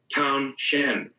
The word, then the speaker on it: Townshend: Townshend, not Townsend with a silent H. Townsend, but Townshend with an H.